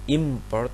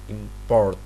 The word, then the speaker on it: import: In English, for example, the noun import and the verb import have exactly the same segments, but the words are distinguished according to which of the syllables are stressed. The noun is import, but the verb is import.